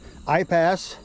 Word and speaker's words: Aipas: And Mr. Google says this is pronounced iPass.